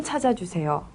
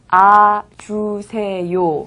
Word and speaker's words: 찾아주세요: 여기에서 찾아주세요는 쓸 때는 찾아주세요 라고 쓰지만 발음할 때는 찾아주세요 라고 발음합니다.